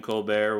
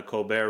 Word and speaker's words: Colbert: try to admit that isn't the right way to say your last name colbert or oh colbert it's awfully french and he's just like